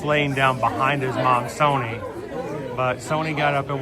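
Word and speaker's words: Sohni: was behind his mom Sony her name is spelled h o h s o h n i and uh this is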